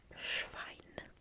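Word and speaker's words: Schwein: so pig is Dos schine dos schine schine schine which is kind of like swine so again it makes sense swine shine dos shine shine I'm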